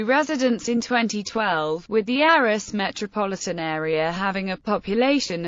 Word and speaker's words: Arras: Unlike many French words, the final S in the name Arras should be pronounced.